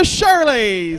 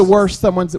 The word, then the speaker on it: Shireys: I was like, "Welcome the Shirleys," and she was like, we get that.